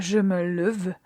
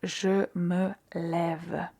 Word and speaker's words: lève: Donc au lieu de dire je me leve, on va dire je me lève. Et là, on a l'accent l'accent grave pour bien prononcer.